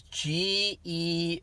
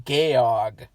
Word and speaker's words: Georg: in the movie is g-e-o-r-g it's georg george it's georg that's how you pronounce it in german sophie georg but in the movie for some reason everyone calls them gayog or they call him